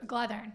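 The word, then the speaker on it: McGlothern: McGlethern, I said it right.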